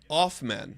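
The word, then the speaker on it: Hoffman: Chris says Off-men. The H is silent.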